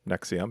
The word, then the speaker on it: NXIVM: She had just escaped from this Nexium cult when uh when the episode started. So, we learned a little bit about the cult. It's called So, it's called Nexium. That's spelled NXIVM and but pronounced Nexium because sure, it's ostensibly